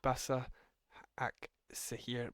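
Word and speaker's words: Başakşehir: Celtic drew with Basak Sehir, that's how you say it.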